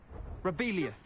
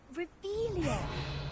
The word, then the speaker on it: Revelio: Rebellious. You're saying it wrong. Ugh, Revelia. Much better.